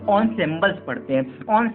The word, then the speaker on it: ensembles: हालांकि इसका प्रोनाउंसिएशन इनसेम्बल्स होना चाहिए, बट हम इसे एक्चुअल ऑनसेम्बल्स पढ़ते हैं, ठीक है।